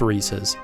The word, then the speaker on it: Reese's: And it is pronounced Reese's.